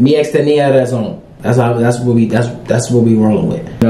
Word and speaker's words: Tenía razón: TENÍA RAZÓN.